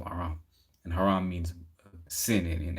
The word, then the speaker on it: Aram: The children of Shem were Elam, Ashur, Arpasad, Lud, Aram. That's interesting. Aram came from where Haram, like Haram rhymes with Aram, and Haram means sin in Arabic.